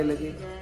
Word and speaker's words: लिंग: लिंग, लिंगा नहीं, हम लोग काफी लोग गलत उच्चारण करते हैं, लिंगा लिंगा लिंगा करते हैं, लिंगा नहीं है, लिंग, लिंग, न शब्द है, क ख ग घ न, लिंग, लिंगस प्रकट हुआ।